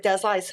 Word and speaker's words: Dezra Lies: Yeah, it's spelled Lies. So why complicate it? Fair. Yeah. So I'm kind of known a little bit. I'm a little bit known. So I don't want to correct everybody by pronouncing it how it's spelled. We just go with Des Lies.